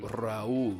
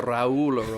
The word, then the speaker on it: Raúl: Roll in your R's. How would you pronounce it? Raúl. Yeah, this is Raúl. The Raúl of his own world.